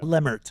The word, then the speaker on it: Lemert: I even butchered my own last name, too. Yeah. Yeah. Leert. Yep. Leert.